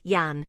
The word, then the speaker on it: Jan: to them all as Jan pronounced in the Dutch way with the J sounding like y Yan but later Americans turned